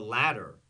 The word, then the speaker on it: latter: new um and yes the latter l-a-t-t-e-r not ladder not is uh escalera or Ladera same pronunciation ladder different it's not two